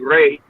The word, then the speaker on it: Re: which is water, and Re is the sun. So you got Uh, the deity Re. That's the proper way. The Greeks say Ra. That's when you hear them say Ra, that's a Greek terminology.